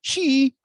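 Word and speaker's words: xi: how do you pronounce x i c x i in in chinese would be she and they skipped over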